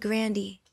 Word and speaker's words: Grande: My grandpa said Grandy. So should we all be saying Grandy? Well, my brother kind of changed it to Grande because Grandy was kind